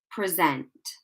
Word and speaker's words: present: And that means that the stress is placed on the second syllable. I thought I'd done it wrong there, sorry. Okay, so I will read the word first and then the sentence. So we say this word like present, present. Okay, notice that I'm stressing